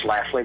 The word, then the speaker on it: Schlafly: I don't know if you've heard of Miss Schlafly, but she's rather active in the extreme right. Who did you spell that, or say it again, please?